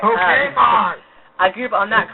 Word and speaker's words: Pokemon: I grew up on the DS, and on the Pokemans and stuff. Okay, Pokemon. Pokemon. Gotta pronounce it right. Pokemon.